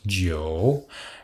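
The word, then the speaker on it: 酒: c'est lié à l'alcool parce que l'alcool se prononcent giro bon c'est aussi lié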